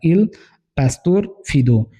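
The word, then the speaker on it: Il Pastor Fido: इनका एक वर्क है गरिनी का जिसका नाम है इल पस्तोर फीदो इसे ऐसे ही प्रोनाउंस कीजिएगा आप इल पस्तोर फीदो इनका एक कलेक्शन है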